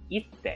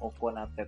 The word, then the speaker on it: 行って: Di sini harusnya dibacanya adalah ite teman-teman.